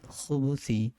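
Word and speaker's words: الخبث: আউযু বিকা, আল্লাহুম্মা ইন্নী আউযু বিকা মিনাল খুবুসি, এখানে খুবসি দেওয়া, মিনাল খুবসি মানে ছ দেওয়া, কিন্তু এটার উচ্চারণ আরবিতে পুরা ব্যতিক্রম।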